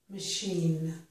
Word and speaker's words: machine: And it makes sh in the word chef, and also in the word machine.